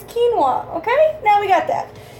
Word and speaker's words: quinoa: Quino, it's quinoa.